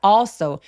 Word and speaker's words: also: 그는 또한 also 올소가 아니라 어 하면서 턱을 길게 벌려 주세요.